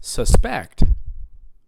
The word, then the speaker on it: suspect: suspect yeah everybody say suspect right well there's also another way to pronounce it it's suspect you hear that it's on the second syllable right today i'm going